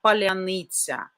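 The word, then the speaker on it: паляниця: So they were asking to pronounce the word palyanytsia. Palyanytsia is a kind of special national Ukrainian bread, white bread, and it has a special pronunciation, palyanytsia.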